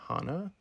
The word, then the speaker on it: Hana: really know why, but every time I said her name in this video, I called her Hana, but then I remembered as I was editing that she definitely pronounces her name Hana. So, just be aware of that. I call her Hannah through this whole thing.